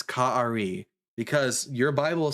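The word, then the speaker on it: כָּאֲרִי: And this word is pronounced Ka'ari. That's the word that means like a lion. Ka'ari.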